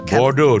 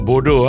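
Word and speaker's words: Bordeaux: So, Bordo, not Bordaux.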